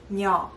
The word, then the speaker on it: 녀: In Korean, we read this letter nya. But for ease of pronunciation, when nya comes very first on the vocab, it pronounces ya instead of nya.